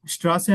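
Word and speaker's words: Straße: अच्छा फिर है स्ट्रा श्रा से हम कहते हैं कि स्ट्रीट को यस सर और जब भी जब भी एस टी शुरू में आए तो आपने शट की आवाज निकाली श या श्रास जस्ट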